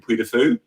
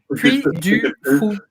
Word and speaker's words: Puy du Fou: What I love about going through somewhere like Cynthia will correct me on pronunciation, Puy de Fou. Puy de Fou, ouais. Puy du Fou.